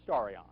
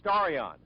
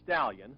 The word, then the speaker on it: Starion: this spaceship called the starrion no i didn't mispronounce the name it is starion not stallion like almost everyone thought when word about the